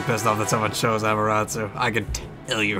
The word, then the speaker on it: Amaterasu: There's a little bit of stance dancing with I always call her Amaterasu, because that's how I feel it should be pronounced.